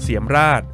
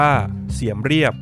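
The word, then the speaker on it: เสียมเรียบ: ปราสาท หิน นครวัด อยู่ ที่ เมือง เสียม ราช หรือ ชื่อ ท้อง ถิ่น ออก เสียง ว่า เสียม เรียบ ห่าง จาก กรุง พนมเปญ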